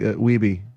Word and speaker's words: Wiebe: of Kong is going, Steve Weeb, everybody. He's like, Weeby. It's Weeby. And then, like, they're like, oh, we've been saying it wrong the whole time. You just have to remember the cover of Lean on Me. We be jammin', we be jammin'.